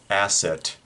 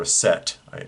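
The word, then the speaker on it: Aset: figures and that is asset or a set depending upon your pronunciation goddess of magic and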